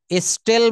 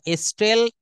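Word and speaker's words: stole: হ্যা এখানে আছে দেখেন স্টেল মানে চুরি করা। স্টেল স্টলস্টলেন স্টিল হ্যা আমরা অনেক সময় স্টিল বলি এটা উচ্চারণ হবে স্টোল স্টেল স্টেল মানে চুরি করা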